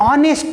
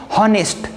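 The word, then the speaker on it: honest: यहाँ पे एच आपको दिख रहा है, लेकिन एक्चुअल इसका प्रोनाउंसिएशन जो है वो ऑनेस्ट है। हम ऐसा नहीं बोलते हैं हॉनेस्ट।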